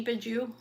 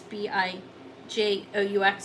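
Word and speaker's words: Bijoux: That's B-I-J-O-U-X. I may be pronouncing that wrong. I think it is Bijou, though.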